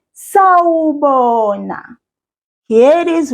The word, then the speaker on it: sawubona: To say hello in isiZulu, we say sawubona. Here it is right up here. Sawubona. I will read each syllable and I'll ask you to repeat each syllable after me. Sa, wo, bo, na.